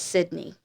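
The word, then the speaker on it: Sidna: And then Jeremiah, his middle name was Sydney, but it's spelled Si D N A, but it's pronounced as Sydney.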